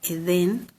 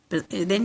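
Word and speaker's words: עדן: Entonces, la primera, de derecha a izquierda, la letra Ain, Dalet, Nun, se pronuncia Edén, y se pronuncia Edén y se traduce como paraíso o placentero.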